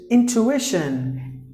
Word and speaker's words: intuition: So the TU, not to, you have to pronounce it like chu.